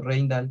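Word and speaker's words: Rijndael: Combinaron sus apellidos para darme mi nombre, Ringdale, pronunciado Reindal para los que no sean belgas.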